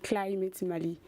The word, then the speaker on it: Climat Mali: C'est Climate Mali, la prononciation anglaise.